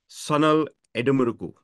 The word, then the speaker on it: Sanal Edemaruku: Sanal Edemaruku. Okay. Like, if you think there's absolutely the one key thing to remember about Indian names is that there are no syllable stresses anywhere unless otherwise specified.